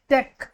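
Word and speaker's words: tech: टेक टेक टेच नहीं बोलते।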